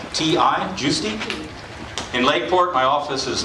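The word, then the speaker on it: Giusti: Last name is spelled G I U S TI. Juicy in Lakeport.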